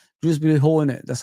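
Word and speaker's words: Dewsbury-Hall: Drewby Hall in it, that's how they say his name.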